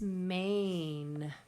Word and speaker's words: mane: is pointing to his mane. Please finger stretch mane. M-A-N, mane. Please fill in the letters of the line below. M-A-N, with that silent E on the end. Mane.